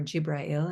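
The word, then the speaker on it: جبرائيل: for Humanity directly from the angel Gabriel or gibrael in the Arabic pronunciation of that Angel's name and that was the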